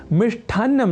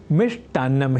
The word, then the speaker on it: मिष्ठान्न: शब्द का होता है व्यवहार सर्वथा शुद्ध अर्थात मिष्ठान्न नहीं मिष्ठान्न ही तो आज आपने जाना कि लेखन और उच्चारण की दृष्टि से श्रेष्ठ नहीं श्रेष्ठ होता